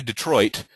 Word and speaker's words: Detroit: am is unstress stressed so when you say Detroit you emphasize Detroit more than the D it's Detroit it's not Detroit it's